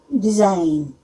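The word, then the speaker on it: design: जब वो एन के पहले आता है तब जी साइलेंट हो जाता है। जैसे अलाइन, डिजाइन, साइन, इन सब में एन के पहले आ रहा है, तो हम जैसे साइन बोला तो जी साइलेंट हो गया, साइन।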